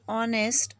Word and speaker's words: honest: not a vowel Brit in this word honest this H is silent after this H we